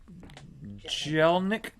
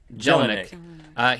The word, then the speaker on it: Jelinek: Jelinek. Jelinek.